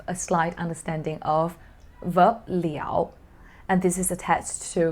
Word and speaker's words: 了: right after so here when it's pronounced as liao like i said it